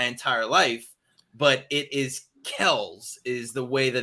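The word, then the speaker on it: Kelce: in the nfl but apparently everybody in the world according to his brother have been pronouncing their family's name wrong for their entire nfl careers it is travis kells not travis kelsey so there you go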